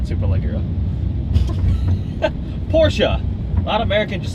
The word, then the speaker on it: Porsche: It doesn't rhyme with porch.